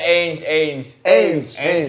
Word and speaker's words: Ange: Bacanya Ainge Postecoglou.